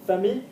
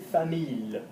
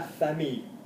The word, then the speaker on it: famille: Famille, obviously, is an odd one to pronounce because we should pronounce it famille, like ville, okay? It's pronounced like the girl, the word daughter and girl. So, une fille. Yeah, la famille.